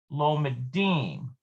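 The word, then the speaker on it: לומדים: lamid which equals two note that while the singular forms the stress falls on the mem so we've got lomed lomadet it is shifted to the last syllable in the plural forms lomadine lomadote so you see how these are bold that just means the emphasis is shifted in plural to the end rather than in the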